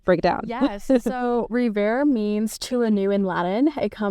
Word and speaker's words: Revare: And for me, it's also kind of a pun on words because Indians sometimes can't pronounce the W's and the V's correctly. And they say rewear as Revare.